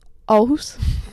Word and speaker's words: Aarhus: How do you pronounce that? Aarhus.